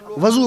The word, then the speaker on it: وضو: میں عرض کر دوں آپ سے, اکثر لوگ وضو بولتے ہیں, وضو صحیح تلفظ کیا ہے؟ وضو. وضو نہ کہیے گا, واو پہ پیش لگائیے گا, وضو.